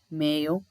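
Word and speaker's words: Mayo: So this is ஹவ் you pronounce டோனெகால், Kalve, மேயோ, ஸ்லைகோ.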